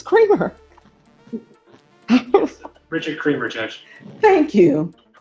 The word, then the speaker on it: Creamer: That's That's the way I said It's Creamer, c r e a m e r. Is that how you pronounce it? It is, Judge. Is it Creamer? I think it's Creamer.